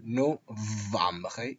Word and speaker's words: novembre: Y como veis, es también fundamental pronunciar no vamje. Es importante la pronunciación que, como digo, hace falta colocar las paletas en el labio inferior.